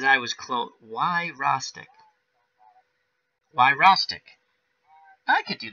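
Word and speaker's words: Wyrostek: Oh wow, I can't even pronounce it as he spelled it out. Why Rostek? Wow. He says I was close. Why Rostek?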